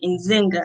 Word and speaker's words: Nzinga: must come from and he tried to say it perfectly he actually got it right on the first time um as you might say my name is stern zinger from rochester new york he said in zinger i said yes he was like okay